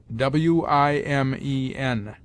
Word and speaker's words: women: Women is pronounced wimen.